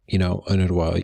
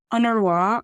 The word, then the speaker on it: UNRWA: A lot of people have seen these 5 letters, UNRWA, UNWRA. Can you just set the table a little bit? What does this agency do, and what is it doing in Gaza right now? Yes, so UNRWA, or I tend to pronounce it in the